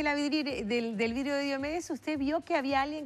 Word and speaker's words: Diómedes: vidrio o de de diomedes, que yo nunca le voy a decir Diómedes con el perdón de de Está muy bien porque en realidad eh la pronunciación griega se acentúa así.